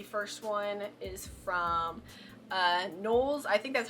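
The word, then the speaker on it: KNWLS: The first one is from uh Nolles. I think that's how you say it. It's like K N W Ls, which in my brain means Nolles.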